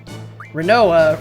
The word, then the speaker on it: Rinoa: that make sense renault rhymes with samoa yeah there we go